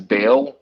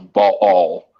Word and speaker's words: Baal: and most people will pronounce it as a bale but it's pronounced a ball and it's it's net you know side note